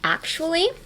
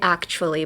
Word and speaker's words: actually: to pronounce would be actually. Um, actually, don't try to pronounce the t as much. Don't be like actually. A lot of people say actually, but uh change the t into a sh hu.